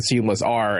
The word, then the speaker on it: SeamlessR: So I adopted SeamlessR as being the actual, like that's literally the name, and then the joke is the R is silent.